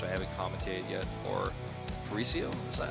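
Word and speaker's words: Paraíso: Midtown uh which I haven't commented yet or parisio is that how you say it I say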